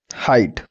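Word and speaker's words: height: तो अगला आता है हाइट, हाइट में भी देख सकते हो GH हमारे क्या है, साइलेंट है, हाइट।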